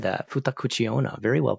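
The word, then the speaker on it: 二口: is said well pronounced whoever just said that futak Kucha very well pronounced although although I think the kanji is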